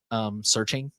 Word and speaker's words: SearXNG: Searching, I think is how it's pronounced.